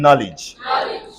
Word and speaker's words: knowledge: now look at this whenever KN come together Decay has to die so if I have